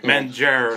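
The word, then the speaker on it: manger: r right so okay mener like with e like shortcuts yeah but you don't pronounce the r in it so you say m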